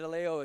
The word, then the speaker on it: Aleo: But David Aleo is how they're pronouncing it, so we'll pronounce it the same way, and he's got a big opportunity here.